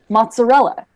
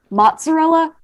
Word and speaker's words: mozzarella: Mozzarella. There are actually 2 slight pronunciation variants. Mozzarella, mozzarella. Okay.